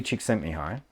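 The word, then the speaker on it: Csikszentmihalyi: creativity by the Hayley chick sent me high which is the last that is the pronunciation of his name that I remember from the last presentation I saw that was around his work uh and I just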